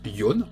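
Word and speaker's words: 四: numéro 4 en fait le chiffre 4 il se prononce yon en japonais mais Yoann c'est pas sa prononciation de base à la base il se prononce she et chie il faut savoir qu'il y a un autre mot et son kangi qui se prononce pareil en japonais c'est le kanji de la mort à partir de là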